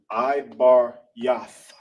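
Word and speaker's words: עברית: Then you got yah and tha. Cut off the a with the th. Ibarath.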